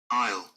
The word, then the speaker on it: aisle: here I'll best um aisle so you've got the I and the l i o can you